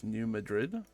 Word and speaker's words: New Madrid: in before in Missouri I'm pretty sure it's anounced New Madrid even though it's spelled New Madrid uh I think it's New Madrid right uh I really don't